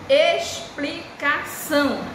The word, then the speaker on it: explicação: Explicação. A palavra explicação, ela é escrita com X. Mas na hora que você vai pronunciar, você pronuncia que letrinha? A letrinha S, né? Explicação.